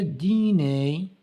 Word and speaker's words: dîner: Le dîner, ER prononce comme E, le dîner, il arrive.